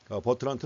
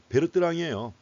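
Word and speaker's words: Bertrand: 또 버트란트 모형이 있습니다 버트란트 원래 프랑스 자고 프랑스식으로 바르한 베르뜨랑이에요 근데 지금도 어떤 책에서는 베르뜨랑이라고 나옵니다 근데 대게 다 영어식으로 발음하기 때문에 트라고 하는 거죠 그래도 여전히 베르이라고 나오는 경우도 있습니다 물론 이거 말고도 보그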